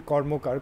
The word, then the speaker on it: Karmakar: pronouncing it right, though my surname is Karmakar, I'm actually Bengali, so it's actually Kormokar, Kormokar, as Usha Uthap was reminding me recently in a chat with Tara Deshpande.